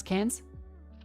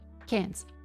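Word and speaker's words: Cairns: Who wants to know how to pronounce cans? Cans. Remember that there's in Australia unlike America there's no hard R.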